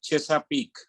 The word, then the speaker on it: Chesapeake: He is also associated with the New York headquartered boutique investment bank, Chesapeake. How do you pronounce that?